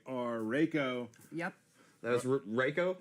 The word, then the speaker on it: Reiko: That was Reiko? Reiko. Did I say it right this You're time? getting closer. I'm gonna get it. I'm gonna get it. That's Reiko.